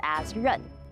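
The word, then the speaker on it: 刃: th and the men character for plate is pronounced Asun you know whenever I think about adding a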